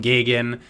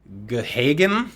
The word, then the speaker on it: Gahagan: Now I wanted to call him Gagan, which is apparently the traditional pronunciation, but I think he said on Facebook it was Gahagan.